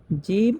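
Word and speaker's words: ج: অর্থাৎ জিহ্বার মধ্যখান তার বরাবর উপরে তালুর সঙ্গে চাপ দিয়ে জিম উচ্চারণ করতে হবে, তাহলেই শক্ত হবে।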